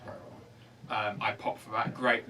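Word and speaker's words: bodhrán: It's spelt Wadran, but Okay. it's pronounced Bowron.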